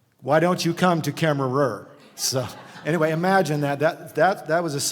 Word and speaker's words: Kemmerer: I'm the City of Kemmer Administrator, and I can relate to Paducah because Kemmerer is kind of how it's not pronounced. Actually, we have a silent er at the end.